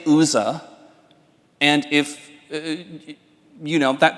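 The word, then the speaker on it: Uzzah: many Hebrew Bible scholars asking how you pronounce his name there is no consensus we're gonna say uza and if you know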